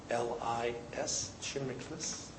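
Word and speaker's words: Chimiklis: All I's, C-H-I-M-I-K-L-I-S, Chimiclis, and. And I pronounce it differently during the day, too, so it doesn't matter where the accent goes.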